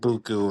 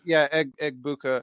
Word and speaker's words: Egbuka: Mayfield I'm just is afraid to try and pronounce it. yeah. I Emeka think Egbuku or something like that. Egbuka, yeah.